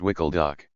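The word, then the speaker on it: WKLDOC: By then, we had begun pronouncing the abbreviation as Wicklock.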